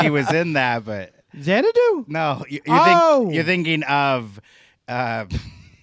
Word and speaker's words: Xanadu: speaking of number two Xanadu rhymes with two yeah genre do I'm